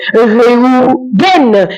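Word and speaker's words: ראובן: Rouben se dit en hébreu rouen et s'écrit de cette manière rouen rouen qui signifie voir un fils.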